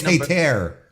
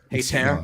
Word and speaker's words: Hayter: No, it's Hayter. Hayter.